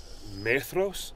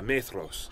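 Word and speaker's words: Maedhros: in The Silmarillion it's not menos yes man throws yes yeah with the D H that sounds like a th yeah yeah may throws yeah it's almost as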